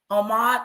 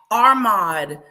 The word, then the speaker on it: Ahmad: Ahmad. I kept putting an R in there. Ahmad.